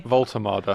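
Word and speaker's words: Woltemade: So So he will get his debut Walter's or how do you pronounce it again? Sorry. Voltermada.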